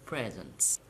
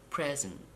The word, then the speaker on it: present: it is very simple for two syllable nouns and adjectives you have to stress the first syllable as I have done how about do too so we talked about two syllable verbs now you have to stress the second syllable for example to present to export to decide to begin